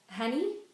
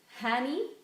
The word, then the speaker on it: Hanny: a bit actually um it's honey pronounced like honey I should know I've been hearing it all my life but it doesn't have that same meaning in that anyway so not so much like honey Hanny cuz that's my dad's